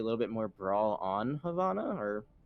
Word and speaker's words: Havana: bit more brawl on havana or how do you say it again remind us the viewers at home beautiful beautiful it's a long a yeah but we are